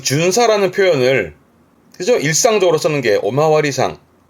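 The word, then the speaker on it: 巡査: 이게 순사 조사할 사자니까 돌아다니면서 조사하는 순사 흔히 다른 말로면 뭐 순경 내지는 경찰관 그때 쓰는 순사인데 발음이 준사 준사이 준사라는 단어도 N2 정도에 많이 또 보여지기도 합니다.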